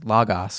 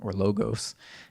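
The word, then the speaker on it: λόγος: And the word in Greek is logos or logos, depending on how you pronounce it, which the Greeks just understood to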